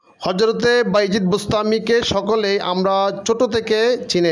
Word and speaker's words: বোস্তামী: তাইফুরের ছেলে হলেন বাইজিদ, আর বাইজিদ বুস্তামি অর্থাৎ বুস্তাম শহরের অধিবাসী। আসলে উচ্চারণটা হবে বস্তামি অর্থাৎ বস্তামবাসী।